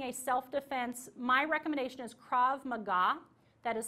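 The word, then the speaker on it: Krav Maga: recommend is taking a self-defense my recommendation is crav Maga that is spelled k r a v as invictor Mah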